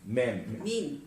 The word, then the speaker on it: meme: the famous idea of how do you pronounce it? Meme. M-E-M-E. Yeah, I know. I pronounced it in my primitive Slavic. Our writing is much simpler. It's meant to rhyme with gene.